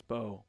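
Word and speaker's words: Mbow: Let's do a little Marcus Bow breakdown, shall we? I know it's pronounced Bo, so All right.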